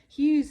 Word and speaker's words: hews: you as it was for me as well it's spelled h-e-w-s hughes means to chop or to cut out to